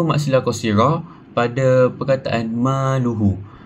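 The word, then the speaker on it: مالُهُ: Kita boleh jumpa mad silah qasirah pada perkataan maluhu. Maluhu ha domi itu tidak diikuti oleh huruf hamzah. Ha hukum membacanya a dipanjangkan dengan dua harakat.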